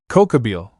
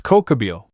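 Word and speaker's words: Kokabiel: "Cookabil, it's Cocoabil."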